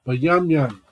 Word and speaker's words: Benjamin: How do you say Benjamin in Hebrew? It's Bayamyan.